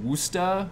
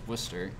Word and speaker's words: Worcester: sdgs on their promotions are pronouncing it woosta or something like that it's just worcester um i don't know